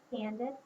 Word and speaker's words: handed: what about handed say handed quietly to yourself handed has the same sound as weighted ID sound at the end so that's going to